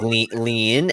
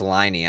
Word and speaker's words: Liney: I was like lean, and then she's like it's Liney.